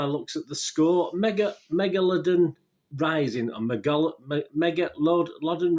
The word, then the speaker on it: megalodon: the megalodon offspring attacks there you go so megalodon that's it that's how you say it uh yeah instead move your database rating uh just 1.8 out of 10.